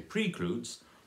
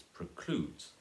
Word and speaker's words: precludes: B that and then precludes has the stress they will know their second silikal you don't say pre crews because that sounds wrong its precludes so we have the